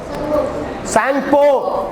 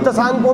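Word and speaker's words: Tsangpo: सैंगपो, T silent है, सांगपो भी, तसांगपो भी बोल सकते हो।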